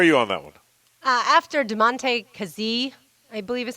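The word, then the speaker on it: Damontae Kazee: After DeMonte Kazee, I believe is how you say his name.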